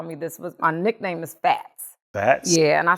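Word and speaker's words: Phatz: My nickname is Fats. Fats? Yeah, and I spell it P-H-A-T-Z, Fats.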